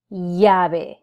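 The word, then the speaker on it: llave: as English does but the double L will produce the a Y sound so I will pronounce the word in front of you as Yahweh which means key Spanish is also particularly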